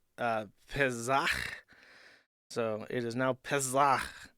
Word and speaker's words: Pesach: Jewish holiday of Passover, which I believe in Hebrew is pronounced Pesach.